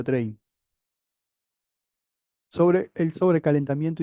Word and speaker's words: Trane: Se escribe Trane, ¿sí? Pero se pronuncia Train.